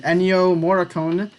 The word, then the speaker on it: Ennio Morricone: okay I know his name I think you pronounce it Ennio Morricone legendary film composer I ate it this week